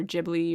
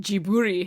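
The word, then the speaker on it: Ghibli: Western Asian IFI no so apparently he pronounces it jiburi himself because they don't have L's but so anyways that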